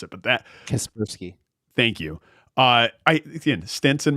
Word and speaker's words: Kaspersky: Because like how it's written right now within the bill, like Kaspersky antivirus, I'm probably gonna mispronounce it, but that Kaspersky.